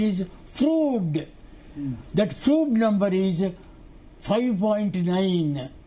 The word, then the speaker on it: Froude: The correct pronunciation is Froude.